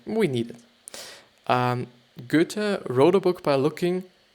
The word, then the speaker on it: Goethe: but it's Goethe actually. It's G actually and Ö, which is a letter there is not in the English alphabet, but they write it